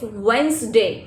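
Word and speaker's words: Wednesday: और श यानी और जैसे प्रोनाउंसिएशन में जैसे कुछ लोग डेज के नेम में Sunday, Monday, वेडनेसडे, Thursday, no not like that, it's वेंसडे, it's Thursday, ठीक है।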